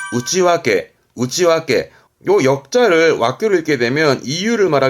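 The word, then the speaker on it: 内訳: 뭐 어떠 사용 내역이라는가 쓰게 되잖아요 내 역인데 발음은 우찌 와게 우찌 와게요 역자를 와로 읽게 되면 이유를 말하게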